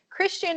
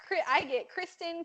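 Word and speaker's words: Kristian: STI a n and maybe one out of every a million times people say my name do they say it right like when the people at Starbucks go Christian I'm like good job I usually say it Kristen Kirsten Kirsten those those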